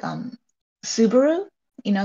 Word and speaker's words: Subaru: okay that makes sense it has it has like inflection on a different portion of the world word right so we're just saying it the way we read it and you guys put inflection on it is a Suzuki